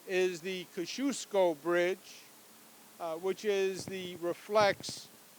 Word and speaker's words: Kosciuszko: we used to refer to it as the Koski osco bridge the proper pronunciation is the Kosciusko bridge which is the reflects the heritage of